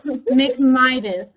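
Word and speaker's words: McMindes: So, it's McMidas. Yeah. The end is silent.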